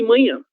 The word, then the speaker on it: manhã: E manhã, letra H seguida de N, ela vai ter o som ia, ia, nha, ok?